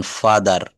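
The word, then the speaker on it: father: শব্দের শেষে যদি আর থাকে তাহলে সেই আর এর উচ্চারণ হবে না। কেমন? শব্দের শেষে আর থাকলে আর এর উচ্চারণ হবে না। যেমন ফাদার, মাদার, সিস্টার, ব্রাদার এর কোন জায়গায় কিন্তু আমরা আর বলবো না।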